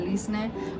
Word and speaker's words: Leslie: They pronounce it Lisne, but my second grade teacher, she just started calling me Lisney. So everywhere I go, I just be like Lisney like Disney, so that people don't forget it and understand how to